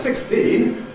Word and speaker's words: sixteen: When it's followed by another stressed syllable, people. We don't say 16 people usually, we suppress this middle one and say 16 people. 16 people. That's the phenomenon of stress shift.